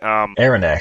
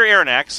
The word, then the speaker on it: Aronnax: Aronnax sounds like anthrax. Yeah, honestly. Okay, yeah. Okay. Rick Mell with the assist. Pierre Aronnax, a French he's a French professor.